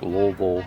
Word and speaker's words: Louisville: And yes, you say it like Louisville, not Louisville. If you say Louisville, everyone's gonna be like, where are you from?